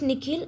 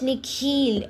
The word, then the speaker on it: Nikhil: The way the principal pronounces his new name is different from the way his parents say. The second part of it is longer, sounding like heel.